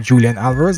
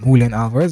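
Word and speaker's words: Julián Álvarez: go with Julian Alvarez some of us would call him Julian Alvarez but I call him Hulen Alvarez because that's correct pronunciation in Spanish the score at any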